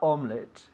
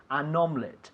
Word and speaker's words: omelette: to change the article we cannot say omelette omelette it's omelette so Jaime did you make an omelette last night yes I made them normal it yesterday okay is two syllables dos syllabus okay omelette